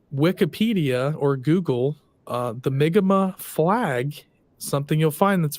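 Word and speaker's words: Mi'kmaq: stuff you're actually questioning the history of the migma yeah in the migma which if you guys have ever seen it's spelled it's Mick Mack um Enigma is actually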